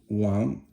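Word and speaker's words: 王: The next one is Wang, which is it's a second tone, and a lot of Chinese people have that as their name.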